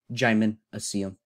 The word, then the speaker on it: gymnasium: We have gy, as in gyroscope. Mina, as in insomnia. As in pizza. C, as in the Spanish yes. As in Therefore, it's pronounced gymnasium.